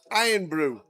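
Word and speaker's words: Irn-Bru: The password for the free roll is Iron Brew. And for anybody that doesn't know how to spell it, it's I R N B R U.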